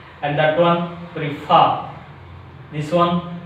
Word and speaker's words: prefer: The fourth rule is some disyllabic verbs. Some disyllabic verbs express on which syllable? Second syllable. Some disyllabic verbs which express on a second syllable.